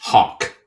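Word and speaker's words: Haug: his last name is spelled h a u g pronounced Hawk guess what his first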